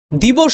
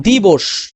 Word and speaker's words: দিবস: দি বস, বো, দি, বো, বো, এই যে বো, ও, অ কিন্তু না, ও, ঠিক আছে? আমি ভিডিওতে দেখালে তোমাদের মুখের উচ্চারণটা আমি দেখাতে পারতাম। ও হবে, অ হবে না।